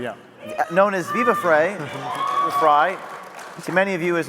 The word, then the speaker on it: Frei: Next, we have David Freiheit, Phonetically, yeah. known as Viva Frei, Fry, to many of you as a notable Canadian